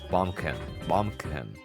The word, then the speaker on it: Baumkuchen: Because I'm pretty sure the CH at the end is not pronounced CH. It's Baumkuchen.